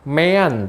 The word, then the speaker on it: mean: Mean tulisannya, bacanya mean.